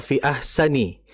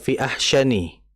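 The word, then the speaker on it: أَحْسَنِ: Kemudian ee tadi fi ahsani ee fi ahsani itu makai sin ya, bukan fi ahsyani.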